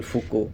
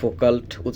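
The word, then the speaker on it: Foucault: কি তারপরে ধরেন মিশেল ফুকো তো মিশেল ফুকুও এরকম একজন ফ্রেঞ্চ আমরা ফোকাল্ট লেখতে সময় লেখার সময় ফোকাল্ট বলা হয় কিন্তু উচ্চারণটা হয় ফুকু আর কি যেহেতু ফ্রেঞ্চ নেম তো সেও এভাবে নানান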